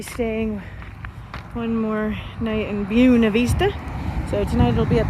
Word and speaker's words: Buena Vista: So we're trapped in Buena Vista, as they pronounce it here. The locals pronounce it, even though the correct pronunciation is Buena Vista.